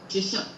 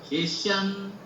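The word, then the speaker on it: शिष्यम्: ऊपर लेना है और शिष्यम का शी को नीचे लेना है, इतना ही है। ओके, नमव नमव नमव नमव, ऐसा आएगा। शिष्यम शिष्यम शिष्यम, करेक्ट, समझ में आ गया सबको?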